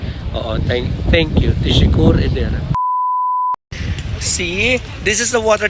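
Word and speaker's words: teşekkür ederim: So para siyang tisikur pero actually it is pronounced as tishikur edderem. Oo. Thank you. Tishikur edderem.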